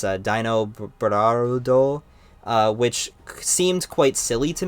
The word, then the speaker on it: Dinobarudo: His Japanese name is, I'm just going to pronounce it Dinobaldo, It's Dinobarudo, which seemed quite silly to me at the time, just as a name.